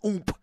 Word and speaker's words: Oomp: And that's pronounced Oomp. Ooh. O-O-M-P.